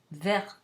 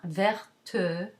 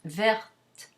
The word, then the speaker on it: verte: T is not pronounced, you add an E to it to make it feminine, and you get verte. It's not verte or verte or verte, none of those. It's just verte with a tiny bit